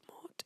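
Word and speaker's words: mort: I stink that's funny contrary to popular belief the T at the end of ort is silent oh says the name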